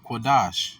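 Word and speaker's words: קדוש: How you pronounce holy in the pure Hebrew? QADASH.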